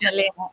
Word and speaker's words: Melania: better and realize that your name is Melania and not just Mel as I, call you. It's pronounced Melena.